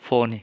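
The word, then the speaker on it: φωνή: Transliterasinya FONE dengan garis datar di atas. Ya. ita tadi, ita ya. Bunyi ucapan, cara membacanya phoni, kata ini phoni.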